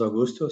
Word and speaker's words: Augusto: My name is Augusto, so the first name you pronounced it correctly.